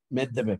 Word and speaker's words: Medvedev: Medvedev, sí, sí. Esa es la pronunciación exacta, gracias también.